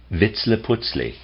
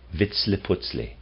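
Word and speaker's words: Vitzliputzli: it into our speech approximates wits le putzli i'll spell that v-i-t-z l-i-p-u-t-z-l-i wits le putzli he is a human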